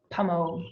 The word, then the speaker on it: pommeau: and they have a pommeau, like pommeau that they call it an apple dessert wine. So I didn't know how to pronounce it. It's pommeau? Yeah. Pommeau.